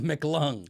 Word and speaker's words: McClung: is charged with one it's like if you had a McDonald's lung a MC lung yeah all right it's